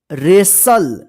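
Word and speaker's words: wrestle: यहां पे देखते हैं रेसल डब्लू आर ई एस टी एल ई रेसल यहां पे देखिए डब्लू भी साइलेंट रहेगा और टी भी साइलेंट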